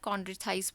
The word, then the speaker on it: chondrichthyes: chondrichthyes बोलते हैं, सी जो है साइलेंट है।